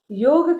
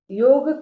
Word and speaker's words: योग: योग का अंग्रेजी स्पेलिंग करते करते हम YOGA करते हैं, इसीलिए अंग्रेज उसका उच्चार योगा करते हैं। लेकिन हमें पता है कि योग शब्द है तो योग का ही उच्चारण होना चाहिए।